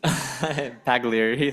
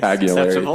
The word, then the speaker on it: Pagliari: Yes, Director Pagliari, sorry, how do you pronounce it? Pagliari. Pagliari, thank you.